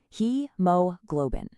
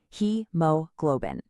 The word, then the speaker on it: hemoglobin: He globin. really stress that first syllable. Let's try it again. He globbin.